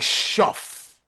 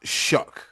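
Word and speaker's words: Shough: It looked like shuff or shook or you know, but it's pronounced shook.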